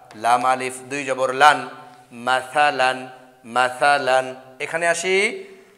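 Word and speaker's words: مثلاً: আলিফ দুই জবর লান, কি হলো বন্ধুরা বলো, মাসালান, মাসালান, মাসালান, মাসালান। এক জবর এক জের এক পেশকে হরকত বলে, হরকতের উচ্চারণ তাড়াতাড়ি পড়তে হয়, দুই জবর দুই জের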